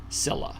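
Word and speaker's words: Scylla: teeth in each head pronounced s i l- a Sila Sila by the way do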